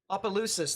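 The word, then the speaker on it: Asus: uh special Marine warnings all sorts of stuff ausus that's what it's pronounced my fault yeah you missed a lot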